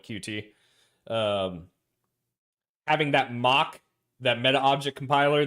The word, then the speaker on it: Qt: Well, so being a Qt developer for the longest time, or using Qt, I guess it's actually technically pronounced Qt, but I've always called it Qt.